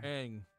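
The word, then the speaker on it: Aang: Ang say his name. I haven't even seen Avatar. Hang.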